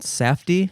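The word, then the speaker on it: Safdie: directed by the uh softy Brothers um I believe that's how you pronounce it safy safy sa safy sorry sorry safy Brothers um Josh and Benny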